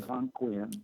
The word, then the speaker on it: Algonquian: Algonquian.